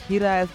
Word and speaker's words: Hiraes: I think Hiraes is how it's somehow pronounced in Welsh, and it's a word